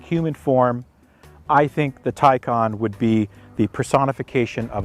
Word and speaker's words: Taycan: it now it's pronounced tycon think of tai you wear a tie or there's a tie in sports and think of star trek uh two i believe wrath of khan khan taikon there you go that'll